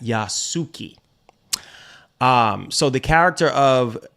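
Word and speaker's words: Yasuke: wait what character of yak suuki yasuki I know I was mispronouncing that yasuki um so the character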